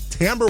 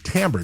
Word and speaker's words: Timbre: Go to Tamber, Timbre. Yes, that's how you say it.